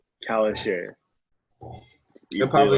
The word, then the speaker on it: Calisher: Calisher? Kalisher.